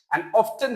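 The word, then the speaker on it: often: নাকি অফটেন বলেন তো অনেকে বলে অফেন অনেকে বলেন ওটা কারেক্ট আর অফ অপশনটাও কারেক্ট দুইটাই কারেক্ট অফেন হল ব্রিটিশ অফটেন হল আমেরিকান ওফেন অর্থ হল প্রায়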